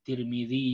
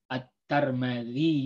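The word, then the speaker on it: الترمذي: sudah Sebutkan ini ya tirmidhi bisa dibaca dengan cuacane Tirmidzi yuk acar melyu atur Mulyo at-tarmidzi youtube-an Tirmidzi you at-turmudzi you atur midiyu itu dia Instagram diantara cara bacanya minhaji fikasih lillahi dari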